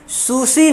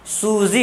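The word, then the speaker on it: Susie: आगे इसी में कहा जा रहा है जबकि सूसी ने, सूजी होता है असल नाम, ये प्रोनाउंसिएशन है, लेकिन हिंदी में सूसी करते हैं, सूजी, है ना।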